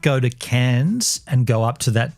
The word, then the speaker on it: Cairns: I mean, I may not go to Cairns and go up to that top northern point because I could do that anytime.